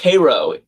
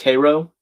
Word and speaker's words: Cairo: Gage confirming the Ohio River ends in Cairo, Illinois. That's crazy. Oh, it's pronounced Cairo. The the uh the Illinois city is called is pronounced Cairo.